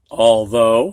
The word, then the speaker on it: although: Sometimes ough just sounds like long O, like in all. Whoops. Go ahead, students. Although, almost gave that away.